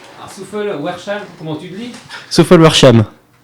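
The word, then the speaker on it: Souffelweyersheim: Souffel-Weiersheim. C'est pas trop mal, non? Souffel-Weiersheim. Souffel-Weiersheim, comment tu le dis? Souffel-Weiersheim. Ah d'accord, tu prononces pas le W en fait. Non. Souffel-Weiersheim.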